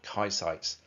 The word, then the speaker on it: Kaisites: on Earth are called Kaisites, pronounced exactly the same as the tattooist name, okay?